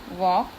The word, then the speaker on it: walk: Now in chalk, L is silent, so we can write here walk and talk. In these two words, L is silent.